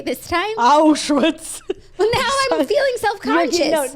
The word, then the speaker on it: Auschwitz: I know this is an important story, but how did you just pronounce Auschwitz? Auschwitz? You said Auschwitz. Listen. Not that it matters, but I feel like it's Auschwitz. Auschwitz, fine.